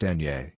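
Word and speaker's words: eñe: Today's Doodle artwork, illustrated by Barcelona-based guest artist Min, commemorates the consonant and tilde, pronounced enye.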